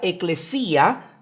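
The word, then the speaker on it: ἐκκλησία: El término griego eclesias se escribe con de hecho se pronuncia eclesía, se pronuncia con tiene 2K.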